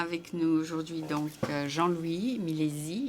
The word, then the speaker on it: Milesi: Alors, on a avec nous aujourd'hui donc Jean-Louis Milési. Il m'a dit bien préciser que c'est un Z. Un jet pour la prononciation.